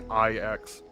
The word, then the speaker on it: IX: for it's not pronounced nine either by the way it's literally just EX no it's not X either it's literally iix so that's how it's